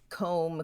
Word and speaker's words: comb: for the most part you have a silent bee when it comes after an M climb comb crumb Dum lamb I want